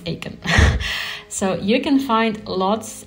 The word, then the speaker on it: ACON: I pronounced it correctly it's not icon I believe it's Aiken so you can find